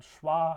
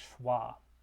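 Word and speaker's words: schwa: the middl most vow it's called schah and it's that upside down lowercase e it's pronounced uh similar to this one which is pronounced uh um so this is as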